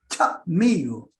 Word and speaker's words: chamigo: Y entre los pocos guaraníes que quedan de la tribu o de la nación guaraní es chamigo, con un corte en la sílaba.